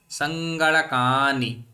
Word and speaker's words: सङ्गणकानि: आसीत्, बहवः पठन्तः सङ्गणकानि, तो कानि इति एवं न, कानि बहरि न, सङ्गणकानि, कानि कानि न भवति न।